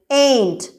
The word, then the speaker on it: ain't: இதனுடைய சரியான pronunciation ain't.